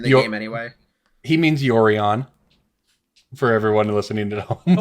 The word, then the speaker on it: Yorion: be Yo Ryan. It's like a Orion, the star with like a sideways hat or something.